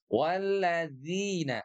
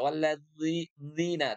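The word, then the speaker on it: الذين: Walladzi dzi walladzi dzina ya boleh disentukan boleh digigit walladzina walladzina tidak dzi kalau dzi itu dia tebal walladina tidak walladina tapi walladzina ya baik dzi nah ini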